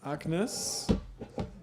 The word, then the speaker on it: AGNES: So the next talk has the title Agnes. I give the German pronunciation.